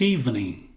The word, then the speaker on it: evening: This evening. This evening. E aqui novamente aquele N com a perninha no símbolo fonético. Evening, evening, evening. Engolindo o G.